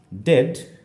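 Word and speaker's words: dead: আবার ই এ এই দুটো লেটার থাকলেও সাউন্ড হচ্ছে এক, যেমন পাচ্ছি হচ্ছে ডিই এ ডি, আমরা বলছি ডেড।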